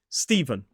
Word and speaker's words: Stephen: Stephen.